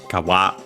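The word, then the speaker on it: 皮: Kawa, accent on the last mora, nowadays kawa, which I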